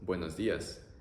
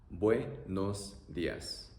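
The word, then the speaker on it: buenos días: The pronunciation is also very simple, oe, o, ia, oe, o, ia, buenos dias, buenos dias.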